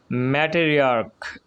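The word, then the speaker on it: matriarch: ম্যাটেরিয়ার্ক এর উচ্চারণটা সিএইচটা ক এর মতো হয়েছে, তাই ম্যাটেরিয়ার্কস।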